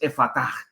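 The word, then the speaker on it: Effatá: Algunos la pronuncian con su transliteración más castellana, con el acento inicial en la e. Pero una transliteración del arameo nos indica que una mejor y más correcta pronunciación es efataj con la fuerza en la a final.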